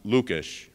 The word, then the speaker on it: Lukes: Czech Heritage and that his name is pronounced lukish in the old country I learned that the